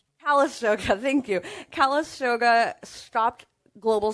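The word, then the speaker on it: Calistoga: Saratoga, I believe that's how you pronounce it. What is it? Kalisoga.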